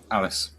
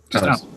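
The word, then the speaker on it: Alys: Alice. Alice. I think it's a Welsh spelling of Alice. I'm not 100% sure.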